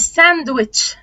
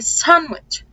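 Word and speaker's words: sandwich: قاعده بسيطه كده صراحه ان الدي او التي لو جم ما بين حرفين ساكنين فتقريبا كده هم مش بننطق يعني هنا عندنا ان وهنا عندنا اس هانسم وينزداي طب هتقوليلي ما هنا اي اعتبر الدبليو تمام و وينز وينز وينز سانويش سانوتش اوكي مش ساندويتش تمام هي سانوتش اوكي او دي خفيفه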